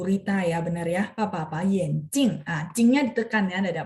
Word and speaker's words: 眼镜: 眼镜 ya, kacamata. Bacanya masih benar ya. Kalau bacanya salah nada, jadi mata.